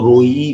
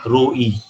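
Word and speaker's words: רֹעֶה: जो चरवाहा शब्द है उसको हिब्रू में जब बोला जाता है तो उसको रोई बोला जाता है, रोई। अगर हम इंग्लिश में लिख के उसका प्रोनाउंसिएशन बोलना चाहेंगे तो ROI आएगा, है ना, ROI, रोई।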